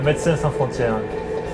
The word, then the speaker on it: Médecins Sans Frontières: Merci aux Médecins Sans Frontières. What's the correct way to pronounce the French name for Doctors Without Borders? That's Médecins Sans Frontières.